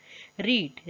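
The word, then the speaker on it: read: रीड, रीड का देखिए spelling वही रहती है लेकिन वर्ड क्या हम पढ़ते हैं, रेड।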